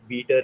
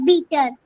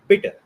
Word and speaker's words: bitter: Uh bitter. The E sound is getting stretched, right? We have to make it bitter. Very quick.